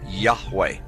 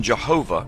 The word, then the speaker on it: Yahweh: most often rendered as Yahweh when written or spoken by Christians and others. It is still never pronounced aloud by Orthodox Jews. The pronunciation Jehovah is an older, less accurate rendition of these letters.